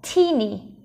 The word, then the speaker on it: teeny: Rồi, từ này có hai âm tiết nhé. Âm tiết đầu tiên đó là t, âm tiết thứ hai là ni. Và trọng âm rơi vào âm đầu tiên nên mình sẽ đọc là teeny, teeny, teeny.